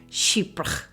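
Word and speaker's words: chypre: presence of musk and if you want to know how to say it just imagine the word sheep and then put an accent on it sheep I remember when I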